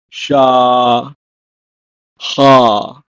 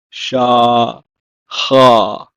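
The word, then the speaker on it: שכח: In Hebrew, masculine form is pronounced as shiv'ah, and the feminine form is pronounced as sheva. And finally, the word for forget is sha ha, sha ha.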